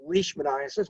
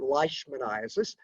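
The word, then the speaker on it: leishmaniasis: So, Lii in Scottish, pronounce the E first. If this were German, you'd pronounce the I first. So, it's it's leashmanasis, not lmanasis.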